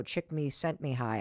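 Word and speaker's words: Csikszentmihalyi: at University of Chicago, Chick Me Sent Me High, I think is how you say his name.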